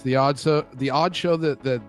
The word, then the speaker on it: (G)odd: and it's weird because it's the G the g is silent g is silent it's the odd the odd show that